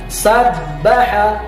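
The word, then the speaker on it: سَبَّحَ: Dibacanya sabbaha, huruf ba-nya ditahan, sabbaha. Sekali lagi sabbaha.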